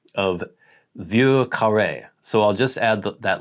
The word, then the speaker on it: Vieux Carré: It says Vieux Carré. And I'm assuming that was for Vieux Carré. Yeah, so Vieux, he says V-Y-U-R sort of phonetically.